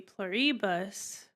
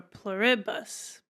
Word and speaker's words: Pluribus: They said it was IH instead of E. So that would be pluribus, would be the wrong way. Or pluribus.